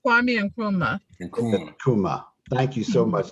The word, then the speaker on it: Nkrumah: No, it's Kwame Nkrumah.